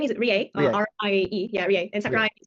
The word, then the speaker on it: Rie: My name is Rie, R-I-E.